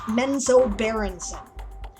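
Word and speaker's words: Menzoberranzan: for different names right this is how i found out things like the word is zach nafion drizzed right and menzo baronson right otherwise i would have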